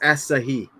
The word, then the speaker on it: Asahi: He's like done my- I'm pretty sure that's pronounced Asahi.